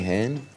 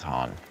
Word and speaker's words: Han: Anything hen? It's Han. But that's okay.